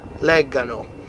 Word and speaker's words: leggano: But then, for loro, it's back to the hard G. Che loro leggano.